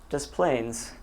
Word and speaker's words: Des Plaines: And then English-speaking people like me do not know how to pronounce French very well. And so when you look at Desplaines, you think, oh, Des Plaines. So what we have is a corruption of the French words, Le Plaine or Des Plaines, pronouncing it Des Plaines.